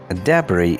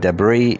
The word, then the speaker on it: debris: This word is pronounced debris in British English and debris in American English.